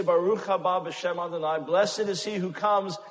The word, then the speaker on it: Baruch haba b'shem Adonai: It is not Baruch haba b'shem Adonai. That is grammatically impossible. It is Baruch haba b'shem Adonai.